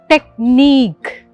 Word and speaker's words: technique: The correct one is technique. Technique, like N-E-E-K, technique.